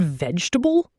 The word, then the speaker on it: vegetable: And vegetable? Vegetable. 3 syllables, not 4.